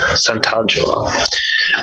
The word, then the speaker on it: Santangelo: Santangelo.